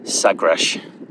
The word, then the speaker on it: Sagres: Sagresh, it's pronounced, I'm pretty sure.